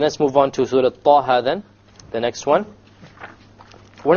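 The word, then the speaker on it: طه: Okay, both of them are 2 harakas long. So we pronounce it Taha, Taha. If we were to make it longer, it's a mistake. Ta or Taha, mistake. Each one has to be 2 harakas.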